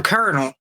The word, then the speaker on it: colonel: So colonel. So the word colonel like it is in the military rank. C O L O N E L, but it's pronounced K E R N E L.